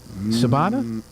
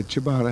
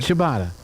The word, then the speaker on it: ciabatta: it French or Italian it's Italian like ciao CIA you know what